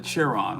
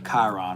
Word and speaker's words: Chiron: Oh, um, she the cher the cheron, right? Or the Chiron or however you pronounce. I think it's Chiron from what Madam Dublé was saying or told me.